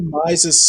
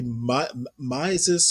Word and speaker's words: Mises: The Mises Center, and apparently Mises or Mises, I've heard it pronounced both ways.